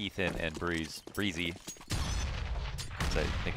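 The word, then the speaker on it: Brehze: Then you come and call yourself Brezzy and say, "I want to be called Breezy."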